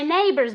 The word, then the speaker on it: neighbors: Neighbors, neighbors, with the B sound where you have to feel the air, okay? Neighbors, with your 2 lips together, okay? As if you were kissing someone, okay?